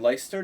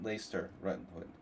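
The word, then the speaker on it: Leicester: I mean, in Lyster. No, no, no. It was in No, he lives in Lester.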